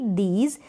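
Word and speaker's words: these: चलिए डीज हो गया अब ये जो एंड में है अब इसका आप साउंड नहीं देंगे मतलब इसको आप प्रोनाउंस हो उच्चारण और नहीं होगा इसका कुछ और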